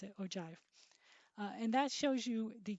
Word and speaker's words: ogive: doesn't look like that but that's how you pronounce it ogive and that shows you the cumulative frequency of